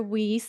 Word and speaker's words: Weiss: uh the ceo and co-founder of texology asher whis and i hope i said your last name